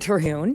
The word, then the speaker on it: Terhune: Hi, Terhune.